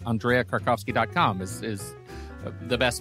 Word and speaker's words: Krakovsky: I make sure I have this right Andrea kovski decom is is the best place for you yes and stellar pronunciation of my last name I might ask